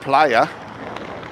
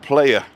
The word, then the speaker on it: Playa: and always remember to pronounce it Playa with two A's and not player player player Barbosa La